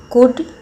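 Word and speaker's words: could: इसका B silent है कुड L silent है वक में भी एल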